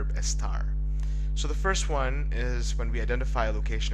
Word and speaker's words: hay: So it has 2 important functions and uses. One is to show the existence of something. It usually uses the impersonal form of I, which is spelled Hay, which means there is or there are.